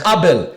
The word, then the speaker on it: Abel: it's Abel that's how you want me to pronounce it Abel and I it's stuck with me ever